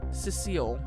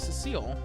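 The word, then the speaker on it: Sissel: I know it also might be pronounced Sisle, but that just sounds a little weird, I guess. I don't know. Could be either one, though.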